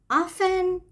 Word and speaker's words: often: So, often is an adverb. یک قید به معنی معمولاً. دقت کنید که تی تلفظ نمیشه.